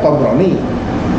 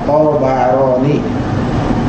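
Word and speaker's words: Ṭabarānī: Profesor Agil Munawar, jadi saya bacanya Tabarani, banyak sukun, itu dikoreksi. Yang benar Tabarani.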